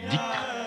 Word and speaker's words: dhikr: particulier la pratique collective du dhikr que les Afghans prononcent zikr à la façon persane.